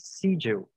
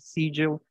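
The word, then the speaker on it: Siegel: vivida aqui pela atriz Kate seel que eu acho que é assim que se pronuncia porque eu já vi gente falar Kate sigel Kate seel Kate sigel então vamos chamar ela de Kate seel então deixa aqui seu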